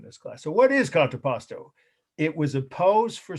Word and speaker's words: contrapposto: a few in this class so what is contraposto it was a pose for sculpture right uh